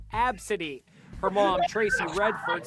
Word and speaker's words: Abcde: the kid's name is spelled ABCDE and pronounced AB City her mom Tracy Redford